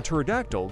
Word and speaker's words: pterodactyl: can't you hear a pterodactyl go to the bathroom because the p is silent a shut up why